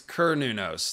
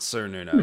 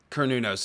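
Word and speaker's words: Cernunnos: to his old one it's Cur nunos not sir Nuno so I was saying it wrong for a long time and I still sometimes say certain who knows it kernunos is a more accurate pronunciation but yeah I have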